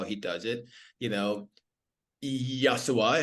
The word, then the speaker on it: Yashua: You know, Yasua. Am I pronouncing your name correctly? Yosua. Like Joshua. Joshua. Exactly. That's correct.